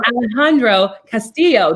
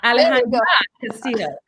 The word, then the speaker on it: Alejandra Castillo: And Alejandro Castillo. Did I pronounce it correctly? Alejandra. Right? Alejandra Castillo.